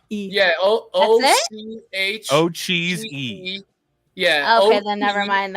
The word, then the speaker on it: Ocheesy: OCH and then cheese and then another E on the end. Yeah, O-C-H. Ocheesy.